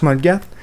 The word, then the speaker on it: Molgat: Ça s'écrit Molgat, mais ça se prononce Molgat.